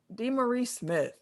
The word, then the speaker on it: DeMaurice Smith: DeMaurice Smith.